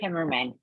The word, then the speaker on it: Timerman: and make sure I'm pronouncing this right. It's Timerman, right? Is that right? Timerman. Yeah, Timerman.